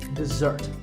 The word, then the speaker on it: dessert: with a dessert sound we stress the second syllable dessert this word refers to something